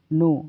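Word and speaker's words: know: नो नो का मतलब होता है जानना। दोस्तों इसमें के साइलेंट होता है। जब एन से पहले के आता है तो के हमेशा साइलेंट रहता है।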